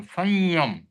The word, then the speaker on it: संयम: तो संयम का उच्चारण न नहीं आता है। नासिका से आता है वो। संयम इस प्रकार से उच्चारण होता है। न भी नहीं आता बट म भी पूरा नहीं बोलते ना।